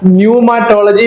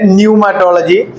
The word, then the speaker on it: pneumatology: न्यूमेटोलॉजी वी से न्यूमेटोलॉजी there is वन P sound इनाइड of that sound न्यूमेटोलॉजी न्यूमेटोलॉजी तो पी का आवाज आता है फिर भी हमको सुनाई नहीं देता है ऐसा वाला बात है आवाज तो आता है न्यूमेटोलॉजी में पी का आवाज आता है हमको सुनाई नहीं देता we can't hear the P sound there but इट